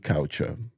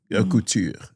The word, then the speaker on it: Couture: Now, let's talk about Nephtali Couture, Couture. Not couture. I keep on calling couture.